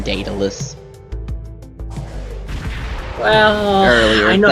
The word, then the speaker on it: Daedalus: Oh man, that's how it's pronounced too. It's was Dae. Yeah. DA. Daedalus.